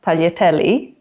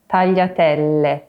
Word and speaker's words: tagliatelle: So it's not tagliatelli, but tagliatelle.